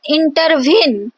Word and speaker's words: intervene: So inter, these are the two unstressed syllable, and veen, as we emphasize, intervene. So veen is the stressed syllable.